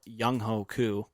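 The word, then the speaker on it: Younghoe Koo: nice and then tied with 67 is randy bullock and they pronounce it differently i always call it young hoku oh sure but they pronounce it differently on tv and they're wrong fair enough young atlanta's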